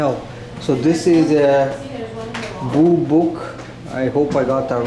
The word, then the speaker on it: boobook: So this is a boobook. I hope I got that right. Owl. How do you pronounce that?